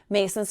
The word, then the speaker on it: Macin: left him alone and then later on heard Mason leave at 7 45 as usual how could